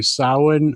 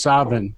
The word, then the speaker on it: Samhain: There are three different pronunciations depending on where you are in Scotland or Ireland. Well, And the Scottish version is Savin.